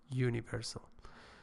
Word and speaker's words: universal: So you should not say an universal, because universal, although with a starting with a vowel, it actually phonetically it starts with a consonant, which is actually universal.